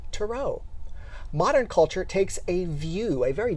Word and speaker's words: tarot: And if you're from the Midwest, you might pronounce it tarot cards with a hard T at the end. But the preferred pronunciation comes from the French with the last T as silent, pronounced tarot.